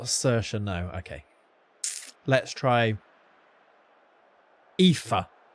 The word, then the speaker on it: Saoirse: Sorge. She is indeed, yeah. Saoirse. Is it actually? That's your daughter's name. It's Saoirse, isn't it? Is that pronounced Saj? Rhymes with 5. Sive.